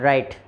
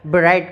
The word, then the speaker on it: write: क्यों हो रही है, जैसे WRITE राइट, तो इसको राइट क्यों पढ़ते हैं, ब्राइट क्यों नहीं पढ़ते हैं।